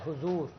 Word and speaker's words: حضور: ہاں یہ پہلے والی جو پہلے حضور کے ہے پر زبر نہیں ہے، پیش ہے حضور پڑھنا چاہیے.